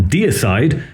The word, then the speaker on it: Deicide: And if you're wondering why I'm pronouncing dayside like dayside and not dearside, well, that's because in